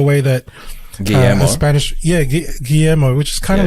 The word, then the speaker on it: Guillermo: up he he'd been pronouncing his name as gilly moore like because you know when you see the word guillermo because like oh fuck i think it says gilly more so he's just mentioned